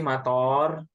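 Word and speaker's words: مطار: Itu apa sih mator? Mator kalau toknya panjang model ini, model begini, ini artinya bandara.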